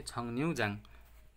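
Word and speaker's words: 정류장: यो फाचिङमाङ ङ आए लगतै र आयो नि, रको उच्चार चाहिँ के हो त, न उच्चारण हुन्छ है, छङन्युजाङ।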